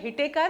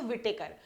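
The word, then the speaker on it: Whittaker: ऐसे हम बोलते हैं हिटेकर। लेकिन ये डब्ल्यू साइलेंट रखते हैं। लेकिन आप ये नाम के लिए याद रख लो विटेकर।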